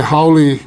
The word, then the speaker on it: haole: Today, haole means white, but the correct pronunciation for this word is haole.